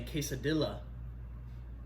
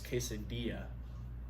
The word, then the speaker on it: quesadilla: They say quesadilla, but it's quesadilla.